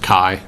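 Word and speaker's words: Kaj: my name is uh spelled k a j and it's pronounced Kai okay I put a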